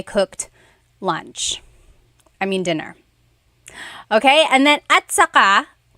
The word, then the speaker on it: at saka: Okay, and then at saka, technically it's spelled at saka. But when it's pronounced, remember the TS combination, it makes that ch sound. At saka.